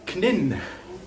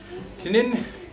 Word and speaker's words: Knin: But Knin, I bet you don't pronounce the K there.